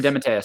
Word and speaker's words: DeMatteis: DeMatteis? DeMatteis.